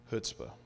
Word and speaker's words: chutzpah: Chutzpah. It's spelled C-H-U-T-Z-P-A-H.